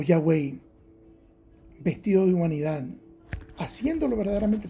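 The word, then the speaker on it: Yahweh: Los rabinos judíos dicen que la pronunciación correcta de esas cuatro consonantes y hh wh o w como dicen por acá en inglés sería Yahwei y en español sería Yad.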